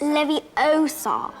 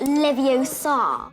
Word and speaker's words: Leviosa: take someone's and besides you were saying it wrong it's Leviosa not live you saw Emma Watson was the